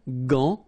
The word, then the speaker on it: gant: Remember, G-A goes like ga. Okay, g. But in that case, you've got this an, so it's nasal, gant, and then final T is not pronounced here.